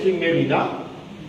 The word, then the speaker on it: Merina: est l'ethnie de Mine c'est Merina mais en enage on prononce pas le A.